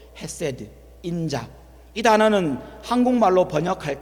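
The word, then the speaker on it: חסד: 여러 번 강조했던 단어입니다 히브리 발음으로 세라고 하는 단어입니다이 발음 그대로 기억해 두십시오 세드 인자이 단어는 한국말로 번역할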